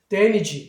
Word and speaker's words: damage: 이렇게 하면 얘 A가 E라고 발음한단 말이에요. 그러니까 damage 이렇게 발음한단 말이죠.